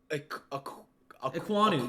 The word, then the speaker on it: Ekwonu: And then he takes Ikem Ekwonu. Did I say it right? Ekwonu, yep.